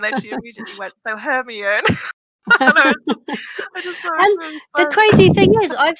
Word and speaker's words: Hermione: And then she immediately went, so Hermione. The crazy thing is, I've seen every film a million times. I just can't pronounce names.